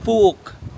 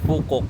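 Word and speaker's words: Phú Quốc: Actually pino-pronounce nila dito Fok yung mga Vietnamese. Fok. Hindi siya Fukok.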